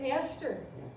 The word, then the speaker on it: Esther: E-S-T-H-E-R. And I said, Esther? And she said, yes, it's Esther.